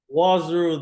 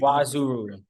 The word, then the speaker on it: Nwaozuru: His name is Nwaozuru. Did I say that right, man? Nwaozuru, the N is silent, but we'll give you Nwaozuru.